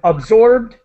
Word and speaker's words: absorbed: then absorbed and involved. The ED is pronounced as a D as quickly as possible.